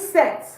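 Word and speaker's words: cette: So for feminine, we use set.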